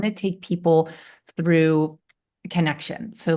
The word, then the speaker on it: Kanekshun: Connection, the way you spell it is absolutely brilliant. It's Kanekshun. And for about 2 weeks, I've been trying to sound this out like Kanekshun or King. Totally. And I'm like, wow, this is so creative and fancy. And how the hell do you pronounce this? And then just before we met today, I was like sounding it out, trying to get it right. And it just hit me connection.